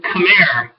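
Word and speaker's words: Khmer: example from before the 7th century is the cham Empire that's spelled KH hm R the CH Empire centered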